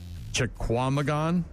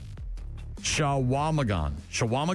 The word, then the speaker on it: Chequamegon: Chequamegon? National Forest. Chequamegon? Mm-hmm. Shawamagon?